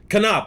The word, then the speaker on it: Konop: Konop. I was gonna say that, but I was like, there's a slight chance that it's not. All right. Anyway, please welcome Gavin Konop to the stage, guys.